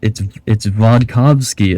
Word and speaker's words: Vodkavsky: It's Vodkavsky. It's not hard to say. It's V-O-D. Can you say Vod? Can you say Kov?